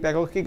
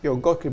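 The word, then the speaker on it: Piątkowski: durante la presentación de Camil pakowski que vamos a pion kowski Perdón yo vo a pronunciarlo ya bien creo que vamos a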